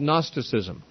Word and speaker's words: Gnosticism: doctrine that was called Gnosticism spelled with the G at the beginning and Gnosticism comes from